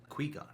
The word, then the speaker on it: Qui-Gon: Qui-Gon. Qui. Is the correct pronunciation for it.